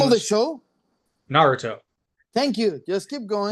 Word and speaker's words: Naruto: Naruto, Thank you. Just keep going. right? But the Japanese pronunciation is Naruto, Naruto.